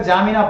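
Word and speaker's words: N'Djamena: चाड का निजाम्बिना है। अब इसको ऐसे पढ़ेंगे, N साइलेंट हो जाएगा, D भी साइलेंट हो जाएगा, जामिना पढ़ सकते हैं।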